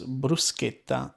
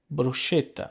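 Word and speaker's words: bruschetta: a CH sound but in Italian when there is a CH it becomes a hard C Sound and that's why the entire continent of North America will pronounce brusa as brushetta because to you the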